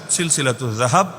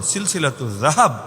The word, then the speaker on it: সিলসিলাতুয যাহাব: অংশ হিসেবেই লেখা আছে সিলসিলাতু জাহাব আপনার মত জাহাব না সিলসিলাতু জাহাব না এটা তো উচ্চারণটা শুদ্ধ করে করা যায় সিলসিলাতু জাহাব ফিমা ইমাম আশাফি আন